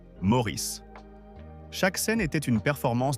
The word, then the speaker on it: Maurice: Le personnage partageait son prénom mais insistait sur la prononciation américaine Maurice tandis qu'ans lui-même toute sa vie insista sur la prononciation anglaise traditionnelle Maurice.